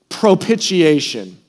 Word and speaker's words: propitiation: Propitiation. That was so-so, okay? If you're saying it right, you're spitting all over the person in front of you. Okay, so let's just try this again. Propitiation. Okay, that was much better.